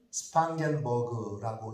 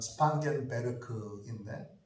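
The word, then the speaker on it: Spangenberg: 그 모라비안 형제회의 지도자는 영어로는 스판겐버그라고 읽고 독일어 이름으로는 스판겐베르크인데 독일 사람이니까 스판겐베르크가 맞겠죠.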